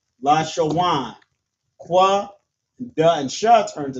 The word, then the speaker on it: Lashawan: So we have la, sha, and then wa and na right here turns to wan. Lashawan. Qua, da, and sha turns to dash. Qadash. La, sha, wan, Qadash.